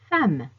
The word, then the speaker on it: femme: au chocolat le château le son a peut s'écrire quelquefois avec la lettre E le mot le plus utilisé dans la vie quotidienne qui s'écrit avec E et qui se prononce a et femme la femme les femmes